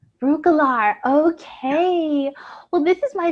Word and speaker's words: Breukelaar: Pronounce your last name. Breukelaar? Breukelaar.